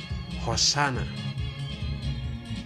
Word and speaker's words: Hosanna: i'll say happy father hosanna that's how you pronounce it in hebrew hoshanah it says it it